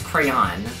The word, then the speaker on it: crayon: what options they have one rhymes with man crayon no that's crayon right who says that crayon I don't know with two syllables where the second syllable rhymes with Dawn crayon Dawn okay sounds like Crown you guys I'm having